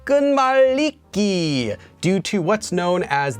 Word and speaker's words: 끝말잇기: i also explained that it's actually pronounced as ganiki due to what's known